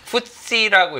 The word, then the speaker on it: FTSE: 이게 이제 이것을 갖다 파이낸셜 타임스 지수인데 이것을 이제 풋시라고 이렇게 어 뭐 줄여서 발음을 합니다.